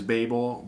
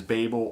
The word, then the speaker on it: Babel: new album Babel and in the UK pronunciations it is Babel but in America and English it is Babel or Babel influenced by the onomatopoeia Babble bable third and final uh